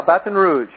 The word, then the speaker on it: Baton Rouge: all that I know you are you're in Baton Rouge did I pronounce that right yeah Baton Rouge Baton Rouge that's how they say it Baton